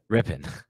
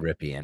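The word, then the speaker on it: Rypien: Rippin. I expect it's going to be Rippin. I always call him Ripien.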